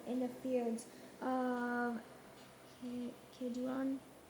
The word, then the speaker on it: Kidron: Verse six, and he brought out the wooden image from the house of the Lord to the brook How to pronounce Kidron Kidron outside Jerusalem.